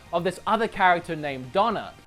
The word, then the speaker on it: Dana: this other character named Donna I know it spelled Dana but I'm pretty sure it's pronounced donor I think I'm getting